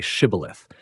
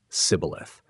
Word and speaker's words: Shibboleth: When Ephraimites try to cross, they're asked to say Shibboleth. Their dialect makes them pronounce it Sibboleth.